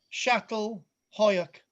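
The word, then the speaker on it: Çatalhöyük: with I'm going to talk about the site shattle Hoak pronounced word perfect so this is a this this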